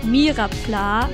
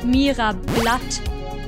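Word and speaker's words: Myrapla: met someone who thought odish was not called mirapla but mira blood at first i just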